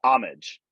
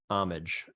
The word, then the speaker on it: Homage: pronounce the brand uh homage homage soft H okay it is not